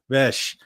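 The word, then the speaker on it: Bech: Bes. There we go. It's like, you know, the ch, but it's pronounced like bes.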